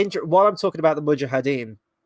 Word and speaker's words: mujahideen: then the third and final time he actually says it in the film properly is mujahideen um hey Dave how